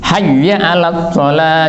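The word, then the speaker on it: حي على: ini sering Salah bacanya Hayya dipanjangkan haknya Haya al dipanjangkan ha al tidak begitu Hayya Al Jadi pendek Hayya Alal Falah bukan Hayya jadi sering terpengaruh dengan lagu dan kemudian terjerumus dalam kesalahan Hayya Al th bisa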